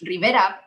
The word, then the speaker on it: Rivera: it like the way it's supposed to be pronounced rivera because i was so afraid of how the